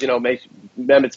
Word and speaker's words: Mehmet: So how do you pronounce his name? Mehmet Oz? Yeah, he's from Turkey, so it's an interesting first name, Mehmet.